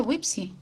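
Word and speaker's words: WPPSI: chiquititos wipsi o sea se escribe wepsi pero se pronuncia wipsi es el wipsi Sí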